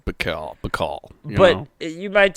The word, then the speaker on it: Baikal: might be like oh lake mccall or bike hell or however you prefer to pronounce it let's just say mccall but you might say